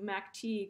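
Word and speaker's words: McTege: but in this neighborhood there's a family name of tai t-i-g-h-e and we think she may have used that spelling she actually used a different spelling when she moved to minnesota later in her life she spelled her name m-c-t-e-g-e so we think that she probably would have pronounced her name mary ty and that that got changed to mactig when she was in minnesota and so this project is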